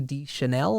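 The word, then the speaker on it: Deschanel: two both are phenomenal um an actress Zoe D Chanel I think is how you say her last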